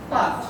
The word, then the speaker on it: পাঁচ: এরপরে আমরা 5 নম্বরে যে সমস্যাটা বের করেছিলাম সেটা হলো যে আমরা চন্দ্রবিন্দুর উচ্চারণ করি না। এই যে এটা বলতে গিয়ে আমরা কি বলি? পাঁচ। কি বলি? পাঁচ। পাঁচ। কিন্তু আসলে এটা কি হবে?